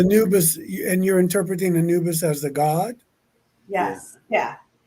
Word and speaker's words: Anubis: you spell it n-u-b-i-s a-n-u-b-i-s oh a n yeah Anubis I was doing the exact same thing okay I thought it was new but I thought she said noobus well maybe now maybe